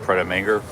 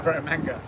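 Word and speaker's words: Prêt à Manger: I had a sandwich at Pret a Manger. Yeah. Pret a Manger.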